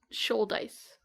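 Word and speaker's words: Shouldice: I think it's Should-Ice. Should-Ice. I don't think you pronounce the should in there. So it's like shoulder as opposed to like should've. Yeah, I think so.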